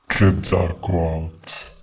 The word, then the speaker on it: Quetzalcóatl: Quetzalcóatl, said King Crocodile.